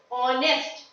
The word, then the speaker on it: honest: honest man here also the H the first letter H is not being pronounced we are pronouncing the next letter so the pronunciation is honest so it is just